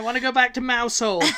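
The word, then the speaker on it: Mousehole: to go see mouse hole and it is mous hole okay I do not even care uh the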